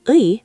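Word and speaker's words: 의: And when it's the possessive particle ui, meaning of, people often say ae.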